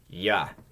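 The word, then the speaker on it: я: It's ya. Ya. And again, if it's unstressed, it'll be more like a y, just a little bit diminished, but pretty common.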